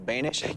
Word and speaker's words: Bonish: My guest name rhymes with Danish. His name is Carl Bonish.